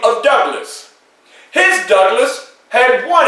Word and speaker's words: Douglass: will have two s so when you pronounce my name you will pronounce it douglas you will hear the ringing of the s such as douglas well as time moved